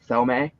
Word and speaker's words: Thome: That is a Jim Tomey rookie. It's pronounced Jim Thome.